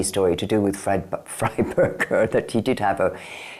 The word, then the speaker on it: Frieberger: pronouncing the name wrong it's supposed to be fryberger not free Burger I have never heard